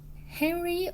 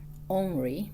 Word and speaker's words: Henri: Henry, or in French pronunciation, Henri, but you can call him Henry, just like American Henry.